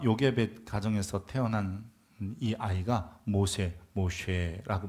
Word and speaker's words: 모세: 모쉐라고 발음하는데요.이 모세라는 발음이 히브리식 이름이라면 이거는 건지다 마샤라는 말에서 나온 거고요.